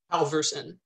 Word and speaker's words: Halvorson: to try it what's your last name alverson 100 that was easy okay perfect nailed it